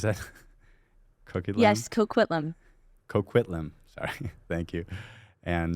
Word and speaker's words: Coquitlam: Coquitlam, is that how you pronounce that? Coquitlam? Yes, Coquitlam.